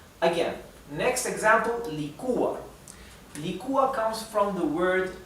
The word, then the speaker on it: licúa: Licúa. So again, we have an hiatus here, okay? An hiatus. Here it's separated into 2 different syllables. And licúa. The accent, the intonation is on the U.